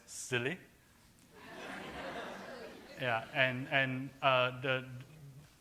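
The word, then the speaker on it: SIYLI: Institute s y l it's pronounced as silly yeah and and uh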